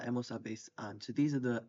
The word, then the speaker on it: habéis: So starting off with I have has, a, hemos, habéis is the you guys one, habéis with the accent on the e, and an.